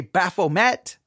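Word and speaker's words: Baphomet: on where you're from it's spelled ba a p o m t many in America would say baffo met but I think it's actually French and it's baf I think is how you actually pronounce it but they he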